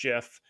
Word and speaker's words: GIF: And yes, it's pronounced GIF.